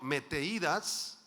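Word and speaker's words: μεθοδείας: de ias en griego Met th Met de ias con acento en la i y significa artimañas sagasidades mentiras trampas el es un mentiroso es un engañador Sí el término meteídas acechanzas de idas Perdón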